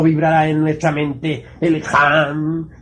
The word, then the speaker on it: Ham: Ham escribe con las letras H-A-M.